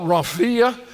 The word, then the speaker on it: rhomphaia: I have a hard time pronouncing English words. But the Greek word here that he used was a word called rhomphaia, which is R-H-O-M-P-H-A-I-A.